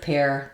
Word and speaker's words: pear: But this kind of pear, the fruit, has this exception spelling with EAR. So I'm going to pair a pair of pears, all the same pronunciation.